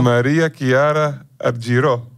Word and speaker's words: Maria Chiara Argirò: go with the floor go with the floor Maria Kiara ariro you are the perfect perfect you s that's the perfect ending perfect pronunciation amazing thank you thank you so don't